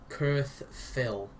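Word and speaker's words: QrthPhyl: Like I say, one of them's Snake, but in 3D, which is called Kurth Phil. It's spelled QRTH-PHYL, which is weird.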